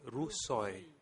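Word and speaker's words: Ruos Suy: I did not pronounce this correctly. It is rousoy r u o s and s u y.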